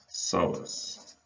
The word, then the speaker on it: iliopsoas: We're going to call that the iliopsoas. You notice that there's a silent P in there.